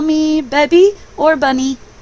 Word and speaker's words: Bebby: You can call me Bebby or Bunny. And Bebby is pronounced, it rhymes with Debbie, but it has a B on the front of it.